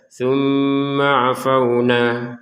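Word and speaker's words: ثُمَّ عَفَوْنَا: Misalkan kita baca tsumma afauna yang seperti ini tidak boleh. Langsung saja tsumma afauna.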